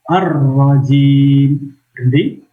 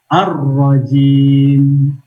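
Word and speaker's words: الرجيم: membacanya Hai tinggal bukan arrow jimly arrow jibbi kan salah tapi arrow gym tahan sebentar Adapun audzubillahi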